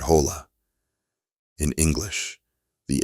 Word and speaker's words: hola: In Spanish, the H is silent. You see it, but you don't say it, like in the word hola.